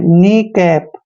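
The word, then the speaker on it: kneecap: ई सी ए प यहां पर भी एन से पहले के है तो के यहां पर साइलेंट रहेगा यानी के का उच्चारण हमने नहीं करना है तो एन को हमने न पढ़ना है डबल ई को ई की मात्रा पढ़ेंगे और सी का उच्चारण क करते हैं और ए को ए की मात्रा पढ़ते हैं पी को हमने प पढ़ना है नी कैप नी कैप का मतलब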